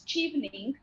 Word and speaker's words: Chevening: what is shelving okay so um it is pronounced as cheapening yeah no it is wine absolutely if both